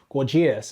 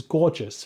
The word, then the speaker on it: Gorgias: Actually, Gorgias should be, I kept on pronouncing it initially as Gorgias, and then he corrected me, it's Gorgias, right? Although the spelling isn't gorgeous, it's Gorgias.